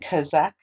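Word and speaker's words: chazak: known as the saints the holy ones and kazakh which is spelled c-h-a-z-a-k it means be strong psalm 32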